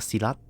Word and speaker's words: Silat: I just know it's pronounced Silat.